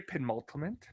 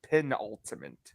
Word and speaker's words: penultimate: as well michael a pen ultimate because almost no it's pin ultimate and ultimate i'll work